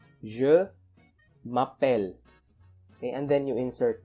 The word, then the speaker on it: je m'appelle: your name you use jumapen okay just a pronunciation tip so you don't say je m'appelle you don't pronounce this as j but pronounce this as je mapel okay next when we